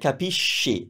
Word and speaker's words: capisci: Capisci. That's sh because it's spelled that way.